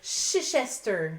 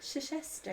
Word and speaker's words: Chichester: Il y a beaucoup trop de lettres pour pour ce que ce qu'on prononce là. Ouais. Oui, il me semble que c'est quelque chose comme ça. On me côte pas là-dessus mais je pense. Mais le festival pour c'est le chichester. Chichester. Chichester.